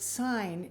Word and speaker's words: Syne: And the word sign is pronounced with an S sound, not a Z.